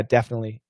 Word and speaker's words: definitely: Shane, I hear Americans pronouncing definitely as without the T. Yeah, definitely. Yeah, you shouldn't. It should be a stop sound.